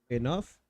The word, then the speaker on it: enough: Like, enough is weird. OUGH, enough. How does the GH sound like an F?